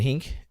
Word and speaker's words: Henk: Does he play Hank? I think so. Oh, Henk, sorry. Henk, yeah. This guy's loaded.